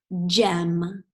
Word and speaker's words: gem: All right, our next word is gem. Gem. J, E, M. Ooh, I heard J, J, J, which I know is a soft G.